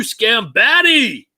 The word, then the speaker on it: Scambati: guys but right down there that's mr scambatty you pronounced my name right but i saw in